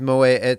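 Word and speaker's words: Moët: heard it's Mo I always thought it was Mo ET shandan but it's Moet you just just because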